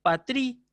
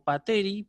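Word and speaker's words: πατρί: El dativo singular, patrí, también nos provoca dolores de cabeza porque también tiene el acento sobre la última sílaba. Uno debería decir pateros o pateri, pero no es el caso de estos sustantivos.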